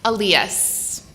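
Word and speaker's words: Elías: Elias. Alias? Mm-hmm. How do you spell it? Like Elias. Okay. Yes. Oh, right. But it's the Spanish pronunciation.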